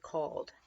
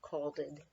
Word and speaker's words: called: And you would pronounce it called, not calded.